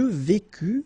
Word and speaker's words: vécus: Je vécus, final S not pronounced, tu vécus, same thing.